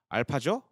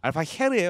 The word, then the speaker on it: Alfajer: 여기서부터는 조금 이제 저도 해외 중계를 보면서 해외 중계진 쪽에서 알파헤르라고 읽어요. 그래서 그 저제 J가 좀 H 발음 조금 섞여 있는 느낌이에요. 알파헤르예요, 그러면. 그러니까 그렇게 완전 센 H가 아니에요. 그러니까 제 그 무음과 살짝의 H가 섞여는 알파헤르.